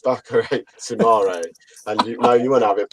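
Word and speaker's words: Boubakary Soumaré: Sumer. Sumer. Sumer. I was like, oh, no, boys, it's Bakare Sumare.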